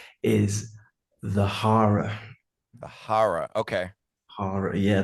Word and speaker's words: The Hara: How the band name is pronounced is the HARA.